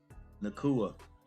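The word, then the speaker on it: Nacua: That's going to be I've been saying his name wrong, but number 12, Nakua.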